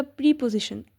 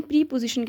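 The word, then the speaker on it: preposition: दूसरी बात करते हैं हम अगली जिसमें आ जाएगा प्रीपजीिशन। प्रोनाउंसिएशन आपने मस्ट देखनी है। इसको हम प्रीपजीिशन कहते हैं ना कि प्रपोज़िशन क्योंकि पोजीशन से पहले लगता है। इस वजह से इसको हम प्रीपजीिशन बोलेंगे।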